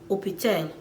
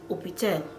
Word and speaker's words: hôpital: Even the word hospital, hospital, the French will say hôpital, hôpital. They skip the H, they will just go to the O, hôpital, hôpital.